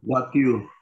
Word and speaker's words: voiture: Voiture. Voiture, exactly. Why voiture? Because OI sound is wa in French. Wow. We have, yes, and we have E sound is a. Voiture. Voiture. Exactly. Voiture. So voiture is your car, your car, auto, car.